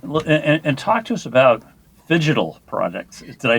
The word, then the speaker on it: phygital: Well, and talk to us about phygital products. Did I say it right? Phygital, the combination Phygital. between phygital or physical and digital.